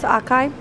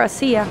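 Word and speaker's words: açaí: What's yours, acai? Is it acai or acia? Acia. I've always pronounced it acai.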